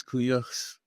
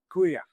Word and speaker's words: Kuuyux: Greetings, Kuyuk. Did I get your pronunciation of your name right? Yeah, you got it exactly right. Kuya, thank you.